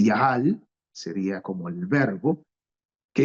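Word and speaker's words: יחל: destacan del término hebreo se pronunciaría más o menos eh yahal sería como el verbo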